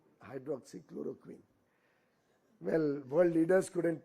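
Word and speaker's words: hydroxychloroquine: There was also that hydroxychloro chlorine hydroxychloroquin. Well, world leaders couldn't pronounce it properly.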